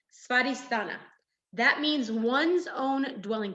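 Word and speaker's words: स्वाधिष्ठान: And this is Svadhisthana, is how you say that in Sanskrit. Svadhisthana.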